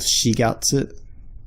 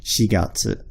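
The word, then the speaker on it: 四月: For example, the 4th month, April, is called shigatsu. It's using this character, shigatsu. You must say shi in that case. You can't say yongatsu. Well, not that I'm aware of.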